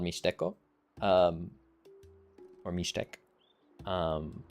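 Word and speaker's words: Mixtec: Um, in uh uh I study this language in Mexico uh called Mishco um or Mishteek. Um the people in that language don't pronounce that way. They say mistco or um and they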